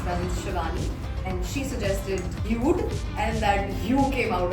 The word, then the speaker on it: Hue: Can pronounce it as Huey. Sla, Huey by Sla. is now the new name of the space. Yeah. But the actual name is Hue by SLA.